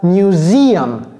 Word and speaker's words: museum: Museum. Ça, c'est comme music. Museum.